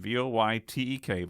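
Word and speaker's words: Wojtek: artillery supply company and he was named voytech pronounced vytek voytech by the soldiers the name roughly translates to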